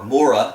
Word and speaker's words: Mora: The town of Mora, or Mora as it's properly pronounced with that kind of a long O sound, but I'm an American. I'm going to butcher any kind of foreign language, so Mora.